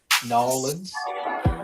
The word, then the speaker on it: New Orleans: the super place in newans newans how they say it they don't pronounce the r we do New Orleans uh but in nans